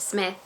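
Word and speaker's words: Psmith: love leave it to Smith P Smith the p-set the P is silent and he that book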